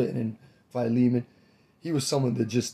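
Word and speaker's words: Philemon: F pH fimon filimon I say phiman that's how I pronounce the name um I say phiman what is it wealthy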